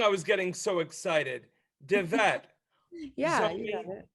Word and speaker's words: DeVette: DeVette.